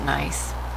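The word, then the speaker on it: gneiss: okay and number 23 nice that's pronounced nice okay so we've got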